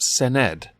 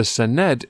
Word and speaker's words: Senedd: Welsh Assembly in the I believe it's pronounced Sen ed the Senedd is actually the Welsh